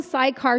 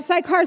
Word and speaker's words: Sychar: I'm from Sychar, Samaria, so if you guys know where that's How do you from. spell that? It's Sycar. Oh, okay. I would've said CY, Sychar. Sychar, Samaria is where I'm from.